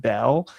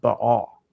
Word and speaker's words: Baal: People say like it think it's pronounced Bell. I think it's pronounced Baal, right?